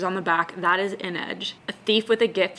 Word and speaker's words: Inej: No, I-N-E-J, Inej.